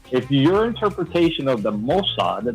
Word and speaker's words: Mossad: your interpretation of the Mossad, that's how you say it, Mossad, not Mossad, Mossad. Get it straight.